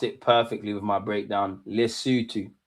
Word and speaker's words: Lesotho: You pronounced it perfectly with my breakdown. Lesotho. Lesotho.